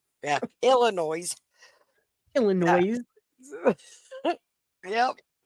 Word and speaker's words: Illinois: for the people that don't know how to say it, Illinois. Yeah, Illinois.